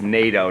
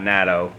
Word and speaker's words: NATO: just a name but it's nato not natto okay so na tio is NATO okay and it's Kuwait okay